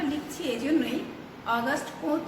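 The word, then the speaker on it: Auguste Comte: আমি এই বানানটা লিখছি এই জন্যই, অগাস্ট কোঁৎ বানানটা কিন্তু বেশ কঠিন এবং এর উচ্চারণটাও কিন্তু বেশ কঠিন।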